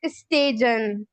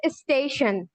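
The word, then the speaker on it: station: So everyone, whenever a word ends with TION, its sounds will be like shun. For example, इधर एक word मौजूद है स्टेशन, यहाँ पे TION का साउंड जो है वो शन होगा। मोस्टली पीपल प्रोनाउंस कर रहे होते हैं एज स्टेजन, बट इट्स नॉट स्टेजन, इट इज स्टेशन, right?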